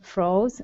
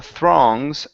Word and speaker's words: throngs: So this is an throngs. Throngs. There you go.